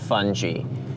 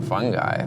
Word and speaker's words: Fungi: all before we start anything about that it's pronounced fun G no no no I'm a fun guy folks